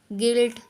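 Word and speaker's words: guilt: Silent है, यानी कि यू हमारा सब में साइलेंट होगा। अब जैसे कि पढ़ेंगे गाइल, गिल्ट, गिल्ट, गिटार, गार्ड, इसके।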